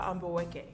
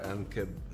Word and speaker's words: Ambaweke: Hi, I'm Ambaweke. Nice to meet you, Ankeb. I mean, honestly, it's four syllables.